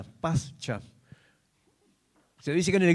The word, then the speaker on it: Pascha: En el latín su palabra se pronuncia pasa. Pascha.